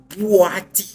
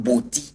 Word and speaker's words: Bui: And then also he said the name is not B force. That is not the original name. The original name is bui force because the white people cannot pronounce the name. So they corrupted the name. That is why it become BI waterfalls but the cultural original name is bui water force.